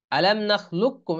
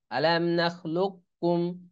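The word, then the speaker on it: أَلَمْ نَخْلُقكُّمْ: হ্যাঁ, আলাম নাখলুককুম, এখানে আবার ঠিক লিখছে দেখেন, আলাম নাখলুককুম, লুককুম, এখানে কফের উচ্চারণ কিন্তু আসবে না, বরং আলাম নাখলুককুম। আর এটা উচ্চারণ করাও কঠিন হয়ে যাবে, আলাম নাখলুকুকুম যদি পড়তে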